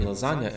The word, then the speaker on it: lasagna: match each other, so The G in "lasagna" is not silent.